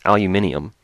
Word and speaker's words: aluminium: yeah it's illumin yeah it's not aluminum it's aluminium the british pronunciation a tiny pile of